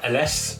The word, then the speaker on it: Ellesse: to me written a nostalgic company brand uh ls that's how you pronounce it it is an italian company and